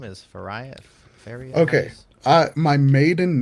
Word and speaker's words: Farias: Farias? Farias. Farias. Farias. It's Portuguese, so it's kind of like a D and an R.